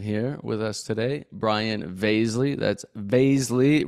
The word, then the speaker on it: Vaszily: with us today Brian vasley that's vasley rhymes with Paisley not Vasily not Vasily not Vasily it's Baisley oh uh it's funny